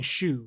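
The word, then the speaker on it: choux: No, it's like saying shoe, right? Like you can spell like S-H-O-E, or you can spell it like the fucking dough that's like C-H-O-U-X. Shoe pastry.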